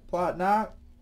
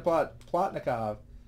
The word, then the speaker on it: Plotnikov: Sergei Plotnak. Help me out with the pronunciation. Plotnikov.